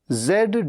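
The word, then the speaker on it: zoo: जू जू मतलब चिड़ियाघर कई बार उसे लोग कह देते हैं जू जू नहीं है ये जू है ज के नीचे एक बिंदु होता है इसे हम कहते हैं जू तो फिलहाल आज के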